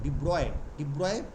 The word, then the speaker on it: de Broglie: ডি ব্রগলিটা আমরা বলি actually উচ্চারণটা ডি ব্রগলি বলে না, ব্রগলিটা তো আমাদের উচ্চারণ, ডি ব্রয় wave, called ডি ব্রগলি waves